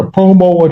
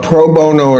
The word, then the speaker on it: pro bono: Uh, is it a such thing as a promo attorney? A what? Uh, I may not be pronouncing that correctly. A lot of denture work done. Proono. Proono attorney. Yes. A pro bono attorney.